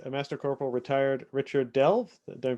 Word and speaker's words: Delve: program interview with a master corporal retired richard delve they're pronouncing that right yes perfect uh i am